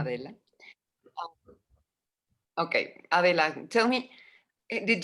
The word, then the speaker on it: Adela: And Adela is how you pronounce it? Yeah, I'll answer to anything, but yeah. Adela.